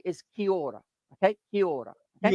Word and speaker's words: kia ora: the most common way we would say is kia ora. Okay, kia ora. Okay, Kiora.